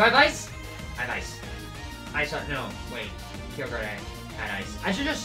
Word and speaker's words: Kyogre: after me for mispronouncing normally i'd say but the pronunciation for this pokemon is kyogre i don't know i just read it like a ramanji let me switch